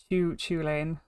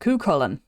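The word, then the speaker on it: Cú Chulainn: So, it's not uh Choo Choo Lane. It's not It's not this. That's That That's wrong. It is CN. That's how you pronounce it. Kolen. Now, Kullen is a very famous Irish hero, Irish legend.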